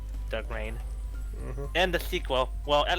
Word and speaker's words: Dark Reign: I mispronounced it as Dark Region, not knowing Dark Reign.